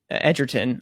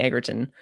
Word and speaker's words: Edgerton: well - of changing Edgerton I how I always have to pause before I say his name because I'm going to say Agron I don't so Karen Edgerton the